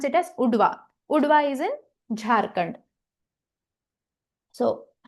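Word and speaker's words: Udhwa: Okay, we'll pronounce it as Udwa.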